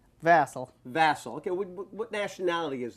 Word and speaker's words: Vassal: Would you give me the pronunciation? Vassal.